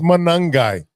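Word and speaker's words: Monangai: It's Manungai.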